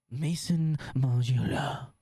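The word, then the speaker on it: Maison Margiela: We've got Supreme next week with Mason Margela. Mason Margela. MM6. Mason Mela. That's how they say it on the if you ask him how to say it.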